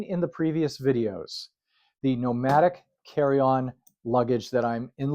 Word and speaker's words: Nomatic: Today, I want to talk about the toiletry bag from Nomatic. Now, people have been asking, how do you spell that? Nomatic. And so instead of nomadic, it's nomatic, right?